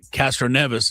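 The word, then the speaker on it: Castroneves: But Castro Neas is Spider-Man. Thank you for pronouncing it right.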